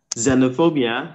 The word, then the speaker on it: xenophobia: And in the second word, xenophobia, the X is Z. Xenophobia.